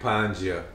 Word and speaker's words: Panja: Hi, Mike Panja, rhymes with manja.